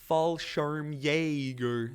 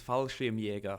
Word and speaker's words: Fallschirmjäger: Oh Simon or d-plex it's pronounced fallschirmjäger it's fallschirmjäger fallschirmjäger anyway who I'm not